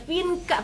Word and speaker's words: Vienka: apa gitu karena produk Vinka Oke dibacanya Vinka teman-teman bukan pakai XV Darah jadi di sini